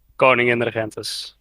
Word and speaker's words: Koningin Regentes: So you've got the Konig Regente class, which were built to supplement, not replace, their precursors in the do the pronunciation! Koningin Regentes.